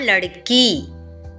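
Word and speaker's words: लड़की: லடுக்கா அப்படின்னு போட்டிருக்கேன் இல்லையா, அந்த மாதிரி படிக்காமல் லடக்கா, லடுக்கி அப்படின்னு மட்டும் படிங்க, அதுவே போதும். லடு அப்படின்னு படிக்கக்கூடாது.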